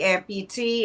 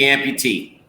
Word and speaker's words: AmpuTea: to do the listening is spelled ampu space t-e-a so it's like you're spilling the T the information there you